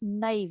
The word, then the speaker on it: naive: The pronunciation is naive.